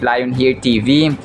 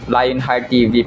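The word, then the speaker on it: Lionheart TV: Tapos yung pagpo-pronounce ko dito sa Lion Heart TV, Lion Heir TV pero napakinggan ko kay Donny Pangilinan yata yun kahapon. Lion Heart TV pala yung pag-pronounce dito mga kasumbreros. So um kasi wala naman siyang isa lang yung tea. So akala ko layo ni here TV mga ka-semel. So kapag dalawang tea sana ay yun nga line heart TV.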